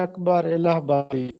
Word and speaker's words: اکبر الہ آبادی: تھا اکبر الہ آبادی۔ بہت سے لوگ اس کو یوں پڑھتے ہیں وزیر اکبر الہ آبادی، وہ غلط ہے، اکبر الہ آبادی۔ تیسرا لفظ تھا بنو